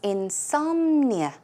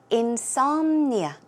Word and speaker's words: insomnia: The stress goes on som, so it's insomnia, insomnia.